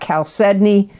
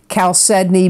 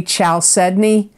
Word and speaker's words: chalcedony: You got chalcedony, and chalcedony is a nurturing stone. It promotes brotherhood and goodwill. It absorbs negative energy. Chalcedony brings mind, body, emotions, and spirit into harmony,